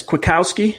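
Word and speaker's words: Kwiatkoski: down finally right yes quick Kowski quick with Kowski okay saying quick and now ski quick Kowski because I hurt though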